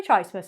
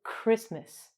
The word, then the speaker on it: Christmas: Merry Chrismith, everyone. We say Christmas. Okay, so in English, sometimes we have a CH. The K is The H is completely silent and we pronounce it like a K.